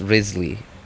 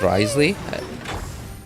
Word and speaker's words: Wriothesley: thing is not an issue his name is pronounced Risley actually I mean I don't know I was listening to the um the special program and they were they were pronouncing it as risely no okay okay okay I was going to